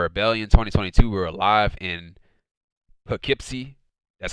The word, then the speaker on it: Poughkeepsie: on saturday for rebellion 2022 we're live in poughkeepsie that's how you pronounce it poughkeepsie new york and our first match of the